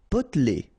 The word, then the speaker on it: potelé: Potelé. Okay, here you don't really pronounce this E.